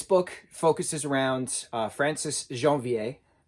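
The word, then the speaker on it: Janvier: so the va v-i-e-r i think it's a va sound i think i could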